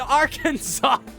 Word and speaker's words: Arkansas: I have both games the pronunciation with the accent on the second syllable with the sound of an ah in man and the sounding of the terminal S is an innovation to be discouraged while there is no legal punishment for the mispronunciation of the state it is technically illegal to call the state anything other than Arkansas oh my God I